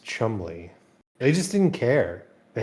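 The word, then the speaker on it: Cholmondeley: Yeah, there's Olamondale, pronounced Chumley.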